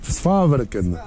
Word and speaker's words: Sveaverken: Jak to się wymawia, Filip? Sfarken? Sfaverken.